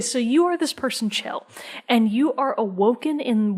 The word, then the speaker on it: Chell: you are a person, Chell. Some people have said Shell. Her name is spelled Chell. That's Chell. Chell.